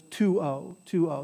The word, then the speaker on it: tuo: And this is two syllables, so you always stress the first one, so it's tuo.